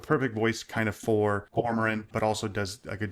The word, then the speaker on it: Cormoran: Comorian. Oh yeah. So I'm sorry. It's Cormoran. Cormoran.